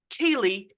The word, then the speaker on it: Ceilidh: And I looked it up, and it is pronounced Kaylee, even though it's spelled Ceilidh.